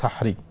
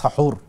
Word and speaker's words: সাহুর: তো রাতের শেষাংশে যে খাবারটি খাওয়া হয় সিয়ামের জন্য সেটাকে বলা হয় সাহরি বা সাহুর। সাহুর মূল উর্দু মানে মূল আরবি শব্দ হলো সাহুর। যদি আমরা সেহরি বলি, কিন্তু সেহরি উচ্চারণটা ঠিক নয়।